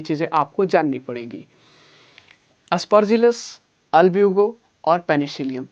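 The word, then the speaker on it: Albugo: और आपका अल्ब्यूगो की बात करते हैं सरकार, यहाँ पे अल्ब्यूगो भी बोल सकते हैं या फिर अल्बुगो, कोई प्रोनाउंसिएशन हर लोग का अलग अलग हो सकता है नहीं, लेकिन अल्ब्यूगो इसको पढ़ते हैं आपका।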